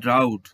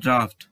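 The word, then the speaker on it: draught: এই ওয়ার্ডটি দেখো, এই ওয়ার্ডটি দেখে মনে হতে পারে এটা হচ্ছে ড্রাউট, তো এটি ড্রাউট নয়, এটি হচ্ছে ড্রাফট।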